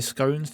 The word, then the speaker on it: scone: How does everyone say scones? Do you say scone or do you say it wrong? I pronounced it gone. Ry scone rhymes with gone.